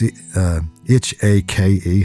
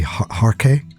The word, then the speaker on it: hake: RK, I think it's pronounced. It's like I think it's Japanese in origin. So it's H-A-K-E, Harke. Back in Ireland, we call them hake.